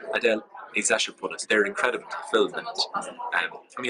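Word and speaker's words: Adèle Exarchopoulos: Adele Exarchopoulos. That's a brilliant pronunciation. Adele Exarchopoulos.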